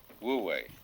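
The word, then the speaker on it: 無為: So the transitional word, which shows the way from to realize De in one's life, this is pronounced, this one is Wu, and this one is Wei, Wu Wei.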